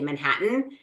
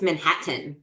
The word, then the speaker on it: Manhattan: Like I say Manhattan, and he's like, it's Manhattan. Like there's two T's. Why are you not pronouncing either of them? And I'm like, because nobody pronounces them.